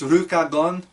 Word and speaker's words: Rukagon: but it's the characters pronounce it like Lucagon. So I'm gonna say Lycagon. Like what they actually say is Rukagon, but I'm just the wolf.